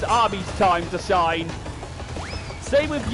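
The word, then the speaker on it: Ami: I think she calls herself Amy, but I think it's pronounced Army. But considering it's the Japanese pronunciation of Amy, though.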